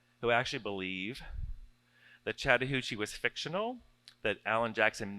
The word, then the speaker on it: Chattahoochee: would say the word Chattahoochee. And I actually have several people who said who actually believe that Chattahoochee was fictional, that Allan Jackson made up the word Chattahoochee because it rhymes with hoochie coochie.